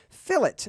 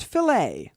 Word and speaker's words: fillet: go to fill it fill it not fillet by the way if you if you pronounce it fillet you're gonna get beat up by the cool kids at school because it's called a fill it and the fill it